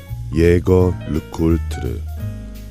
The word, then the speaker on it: Jaeger-LeCoultre: 제제아 르쿠오터. 한국 발음으로는 예거 르쿠울트르.